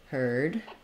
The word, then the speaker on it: heard: to look like this heard and then this one also we spell that ER vowel with u r i r e r um this is just gonna sound like hurt um so I rewrite